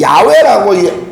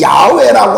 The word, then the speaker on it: 야훼: 이 마지막 단어의 회는 원래 시브리어의 마지막 회는 묵음입니다.